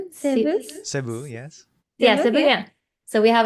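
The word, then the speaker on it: Cebu: Sebu Sebu.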